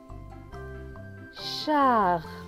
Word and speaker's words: Charlie: Charlie, le E à la fin est écrit en gris, donc il ne se prononce pas.